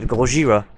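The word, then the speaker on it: ゴジラ: themselves Godzilla or Godzilla is actually the proper pronunciation of goira in its native Japanese sticking with original ideas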